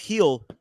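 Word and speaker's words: Gil: one Luis heel G it's pronounced heel against Brian beo who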